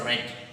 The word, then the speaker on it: read: in present dance but in past tense we call it as red okay the spelling will